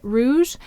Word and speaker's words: rouge: Now, G may soften to J before an E, I, or Y. And here it would be saying something like rouge, the soft sound. But when we blend it together, it has that J sound to it, rouge. And I believe this may also be a French spelling of that sound J at the end of the word.